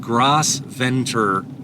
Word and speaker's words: Gros Ventre: and it found it, So I started trying to pronounce it in different ways. So I said Gros Ventre, and it liked that, and it found it immediately.